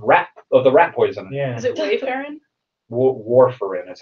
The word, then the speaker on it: warfarin: of the rat poison warfarin that's how it's pronounced according to this on the on a Wikipedia page Worf like Lieutenant Commander have the enterprise yeah